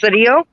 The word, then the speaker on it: Sidio: son jesse sidio at it's pronounced sadio we were killed by